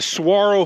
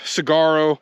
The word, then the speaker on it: saguaro: And it's spelled Saguaro, but I think it's a Spanish word, so saguaro. I hope I'm saying that right.